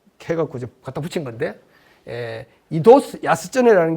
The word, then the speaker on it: 糸洲安恒: 이제 갖다 붙인 건데 이도스 야스쩌네라는 게 정확한 일본식 발음인데 영어책을 보면 이도스 앙코라는 말이 많이 나와요. 앙코라는 말이 안항을 그 음독으로 하면 앙코가 되고 저 한자음 그대로 일본식으로 읽으면 앙코가 되고 그 다음에는 훈독 뜻을 가지고 새기면 야스쩌네가 되는데 일본 사람들이 야스쩌네라고 부르는 게 맞을 거예요.